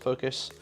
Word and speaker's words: Fokoos: They were in a stream that I was watching and they did say it was supposed to be pronounced Focus.